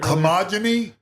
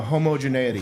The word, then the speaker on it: homogeneity: you say it homogyny no homogeneity homo homogeneity in that in